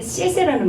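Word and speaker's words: 谢谢: 우리 흔히 얘기할 때 씨에세라는 말 많이 쓰잖아요. 씨에세, 씨에세, 씨에세, 씨에세. 그때는 똑같이 X를 하는데 이게 그 쌍시옷 발음 된 소리가 좀 나죠.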